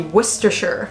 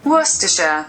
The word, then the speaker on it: Worcestershire: But we learned it's pronounced Worcester. Yeah, so it'd be Worcestershire. Worcestershire. Worcestershire. Worcestershire.